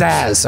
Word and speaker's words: Zaz: His name was Zaz, all right? Zaz.